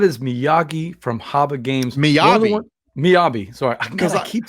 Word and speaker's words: Miyabi: I thought it was Miyagi, but it's Miyabi.